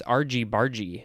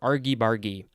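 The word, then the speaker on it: argy-bargy: last episode it is aarghibargi this am i pronouncing it correctly i think it's rg bargy actually oh it actually it could be either rgbargy or argybargy which one do i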